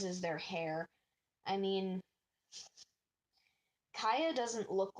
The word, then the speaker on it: Kya: I mean, Kaya doesn't look like either of her siblings.